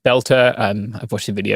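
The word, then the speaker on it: Boelter: According to one account, a man called Vance Beltter, it's pronounced Belter.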